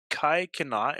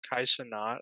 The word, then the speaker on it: Kai Cenat: Is it Kai Kanat? Is that how you say it? Kai Cenat, I think.